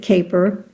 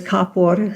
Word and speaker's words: Kapor: In English, they pronounce it caper. And in the old country, it was Capor.